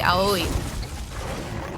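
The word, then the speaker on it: 青い: word for Japanese, and it's Aoi. Or Ao, but usually Aoi, because it's usually going to be used as an adjective, a modifier, so like that's, so you need the E sound at the end there.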